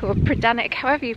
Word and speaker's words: Predannack: Locals pronounce the word as Predannack, which would make a lot more sense to me as a Cornish person. We do tend to lose that middle syllable. So Predannack or Predannack, however you pronounce it.